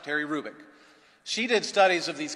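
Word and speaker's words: Terry Hrubec: HR ubec Terry kic the h is not pronounced Terry rubic she did studies of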